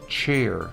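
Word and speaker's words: ç: I guess, which is pronounced like the word chair. Okay, chair, chair. The cha part is pronounced the same. Cha, chair. Okay, so that C with the thing is cha.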